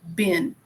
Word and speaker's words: been: um present perfect is you have to say bin yes Ben all right hi